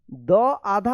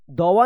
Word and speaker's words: दुआ: लेकिन यहां पे देखिए द आधा होता है और व पूरा होता है, तब इसको पढ़ते हैं दुआ। दुआ, दवा नहीं पढ़िएगा, दुआ दुआ इस तरह से रहेगा।